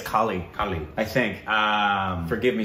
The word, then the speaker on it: Kale: I mean, it's, because obviously, Mahesh Kale, or Kale, how do we say his name? We've been saying it wrong. I know, we say Mahesh Kale. Yeah, we say Mahesh Kale, but it's not. I think it's Kali.